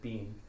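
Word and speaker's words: Bin: And then Bean's, B-I-N, and he pronounces it Bean.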